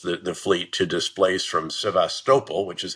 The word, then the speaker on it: Sevastopol: They've already forced the fleet to displace from Sevastopol, which is how it's pronounced, I've learned in my two trips to